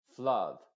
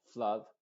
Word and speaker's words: flood: pero en este caso se pronuncia con la u modificada como flood y Blood no se